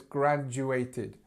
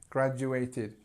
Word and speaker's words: graduated: wise just remember that the stress starts at the beginning and it's graduated graduated and the Ed is